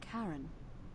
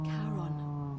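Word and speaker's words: Charon: is a little off the name you heard wasn't Karen it was c h a r o n as in Caron the ferryman of the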